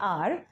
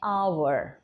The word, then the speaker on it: hour: आप बोलेंगे आवर, sorry, British English में आप इसको बोलेंगे आर, और अमेरिकन इंग्लिश में आप बोलेंगे आवर, ठीक है।